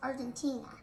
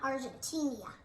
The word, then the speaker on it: Argentina: you like chimichurri it's from argentina oh it's pronounced argentina not argentinia so we're also we're going to be souving